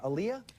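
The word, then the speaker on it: Aaliyah: And before anyone tries it, yes, I say Aliyah because I looked it up. Say your name. Aliyah. Aliyah. Oh Jesus. Like Muhammad Ali.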